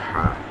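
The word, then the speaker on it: ح: জায়গাটা থেকে উচ্চারিত হবে দুই নাম্বার মাখরাজ হালকের মধ্যখান হইতে উচ্চারিত হয় যথা আইন হা আইন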